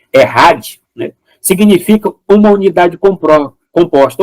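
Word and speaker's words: אחד: o termo que aparece o termo é é Chad né mas a pronúncia é errad né significa uma unidade composta ou seja uma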